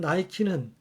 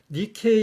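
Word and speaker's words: Νίκη: 스포츠용품 나이키는 니케의 영어식 발음이고 자동차의 명품 롤스로이스의 환희의 여신상도 승리의 여신상 니케에서 모티브를 얻었다라고 하네요.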